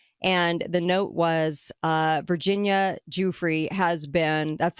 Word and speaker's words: Giuffre: And the note was Virginia Giuffre has been, that's how you pronounce it.